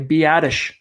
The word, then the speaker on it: Biadasz: I finally figured out how to pronounce that name, by the way, Biadasz, out of Wisconsin.